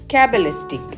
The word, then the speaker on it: cabalistic: கேபலிஸ்டிக் அப்படின்றத நம்ம எப்படி உச்சரிக்கணும் அப்படின்னு பார்த்தோம்னா கேபலிஸ்டிக் இதுதான் இதோடைய சரியான உச்சரிப்பு.